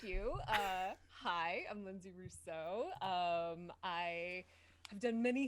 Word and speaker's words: Rousseau: name it is yeah that's the italian is r-u-s-s-o one syllable the french is rousseau rousseau nice that's super super